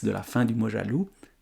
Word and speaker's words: loup: la fin du mojal loup et loup l o u p et on retrouve l'animal. Tout est là dans ce qu'on ne prononce pas dans ce X et dans ce P.